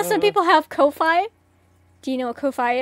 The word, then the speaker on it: Ko-fi: It's K-O-F-I. Oh, K-O-F-I. Sometimes people call it coffee. Yeah. What about... It's like music and stuff. JMD, you're an absolute mad lad. Anyone in self-timeout? No, dude, Isn't Ko-Fi like the music, like,